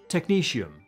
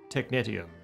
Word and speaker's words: technetium: And finally, apparently, I pronounced technetium wrong. It's technetium, not technetium.